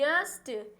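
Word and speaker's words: yeast: पहला है कि यस्ट ईस्ट इसको वाई साइलेंट रहता है। यह जो वाई है वह साइलेंट रहता है। यह है यीस्ट।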